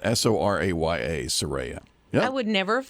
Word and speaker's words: Soraya: your kids like uh Soraya that is Scott's daughter did I even say it right you got it impressed because it does get mispronounced quite a bit s-o-r-a-y-a Soraya I would never